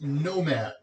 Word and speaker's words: NOM4D: more questions Nomad M sorry nom4d pronounced Nomad is a DARPA project